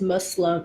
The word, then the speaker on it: Muslim: Z sound and it's Muslim like it's I think Muslim like with an s not a Z but it's like Muslim